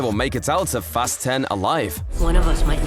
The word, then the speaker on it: Fast X: He pronounces Fast X as Fast 10, like fasten your seatbelts.